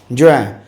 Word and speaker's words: juin: जून, Juin, जुएं, उच्चारण जुएं है, spelling JUIN है और इंग्लिश में उसको जून बोलते हैं.